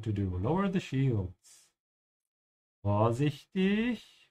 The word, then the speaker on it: vorsichtig: Vorsichtig. Vorsichtig. Make sure to pronounce the B like an F.